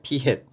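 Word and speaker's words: p̂: 이걸 뭐라고 읽느냐? P 햇이라고 그래. P 햇. P 햇은 모자지. 그래, 모자를 씌웠다라고 해가지고 P 햇이라고 읽어.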